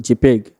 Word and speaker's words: JPEG: JPG is mostly mostly written as JPG where it is pronounced JPEG.